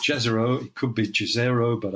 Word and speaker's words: Jezero: And it's a place, and I think it's pronounced Jezero. It could be Jezero, but I think it's Jezero.